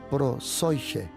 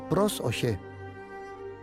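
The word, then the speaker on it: προσευχή: Algunos lo pronuncian como prosoige, pero se pronuncia pros-oye.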